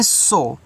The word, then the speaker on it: show: SHOW, इसको पढ़ते हैं सो। तो SH से आपका बड़ा सा ओ से ओ की मात्रा, लास्ट में जब W आता है उसका उच्चारण आप नहीं करते हो।